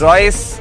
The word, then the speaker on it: Roycee: I mean, uh Royce Royce Royce is actually a French name. And double E, right? Uh yeah. So, the last E is uh you know, it is not pronounced.